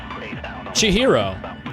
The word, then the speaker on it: Chihiro: Chihiro. There you go. Finally, an actual pronunciation of it.